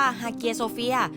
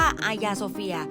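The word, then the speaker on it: Hagia Sophia: ออก เสียง นะ คะ ภาษา กรีก เนี่ย เรียก ว่า ฮาเกีย โซเฟีย แต่ ใน ภาษา ตุรกี เรียก ว่า อายา โซเฟีย ซึ่ง ใน ปัจจุบัน ที่ นี่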